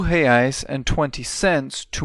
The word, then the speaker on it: reais: Let's practice that pronunciation. Real, real, real, and reais, reais, reais.